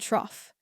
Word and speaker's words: trough: old bow sound five this rhymes with off and scoff the two words to learn are cough and trough the horse began to